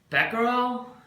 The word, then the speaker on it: Becquerel: All right, so Edmund Becquerel, is that how you pronounce it?